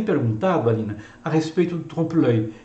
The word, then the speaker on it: trompe-l'œil: grandes obras decorativas, e que são obras do trompe-l'œil.